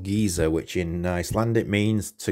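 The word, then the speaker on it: Geysir: of heading from tectonic plates and Thingamir to Geyser, we're actually going on to Gullfoss. And the reason for that is pizza. Delicious. The second stop on the Golden Tour is the town called Geyser, which in Icelandic means to gush.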